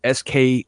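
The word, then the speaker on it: Skorkowski: It's Skorkowsky.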